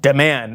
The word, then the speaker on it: Dman: He wants to be called Dman, pronounced de man, as Anna says it.